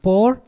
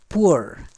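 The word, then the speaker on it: poor: food to द पुअर इट इज नॉट पोर इट इज पुअर आशा करुछि उच्चारण आपण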